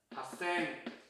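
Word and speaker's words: 八千: 여기 너는 6 다음에 건너뛰어서 8000보다 핫생. 그죠? 그 다음에 10생 없죠? 만이죠. 만 단위. 그러니까 없어요. 6, 8은 뭐다? 록생, 핫생.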